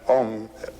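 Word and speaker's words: Aum: And Om, it's a wonderful word. It's written A-U-M. You start in the back of the mouth, ah, and then oo, you fill the mouth, and closes at the mouth.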